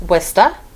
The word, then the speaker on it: Worcester: We pronounce that Reading. All right. Here's another one. And that is Worcester.